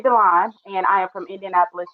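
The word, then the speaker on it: D'Lon: Well, it's actually pronounced. I thank my father for that. So it's Delon, and I am from Indianapolis, Indiana.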